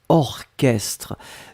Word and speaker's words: orchestre: d'habitude la première chose c'est orchestre souvenez vous c'est bizarre mais il existe il existe certes un mot qu'on écrit chat mais qu'on prononce que y'a pas beaucoup c'est vraiment une minorité mais ici c'est un exemple orchestre on l'écrit or chestres donc au rch str d'accord un autre exemple ce